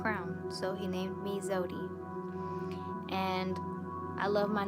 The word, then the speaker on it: Zewdy: queen needed a crown so he named me zodie and i love my name it's been very difficult for people to pronounce in school teachers and all that kind